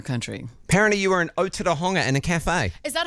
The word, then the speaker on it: Otorohanga: Apparently you were in Otorohanga in a cafe. Is that how you pronounce it? Otura. Otorohanga, yeah.